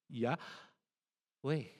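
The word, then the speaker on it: Yahweh: way you pronounce or the way you say the word Yahwe is you breathe in you say yeah way whenever you inhale you say the first syllable yeah way yeah way you try it it's actually breathing.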